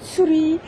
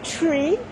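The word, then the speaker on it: ツリー: Si tu le prononces à la japonaise, tu dis Tsuri. Et si tu la prononces à l'anglais, c'est plutôt Tree.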